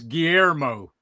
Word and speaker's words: Guillermo: So it's Guillermo.